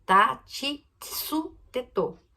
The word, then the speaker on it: tsu: É ta, ti, tsu, tetô. Não tem tu. Não tem a sílaba tu. É tsu.